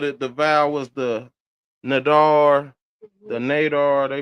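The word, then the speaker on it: נדר: The vow was the Nadar, the Nadar, they pronounced it N-D-R, Noon, Dalet, Resh, right?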